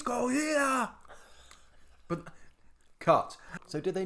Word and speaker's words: Gojira: How do we pronounce it? Gojira.